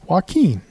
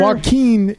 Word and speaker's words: Joaquin: It's Joaquin.